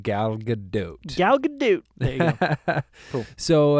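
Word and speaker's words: Gal Gadot: there you go way to go and it's pronounced galot galgadot there you go cool so anything else you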